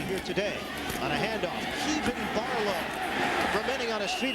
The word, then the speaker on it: Kevan: They call him Kevin Henry around here. He told us it's actually pronounced Kevan Barlow.